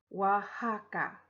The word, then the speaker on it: Oaxaca: is the name of the state it is pronounced Oaxaca and here at the star is Oaxaca City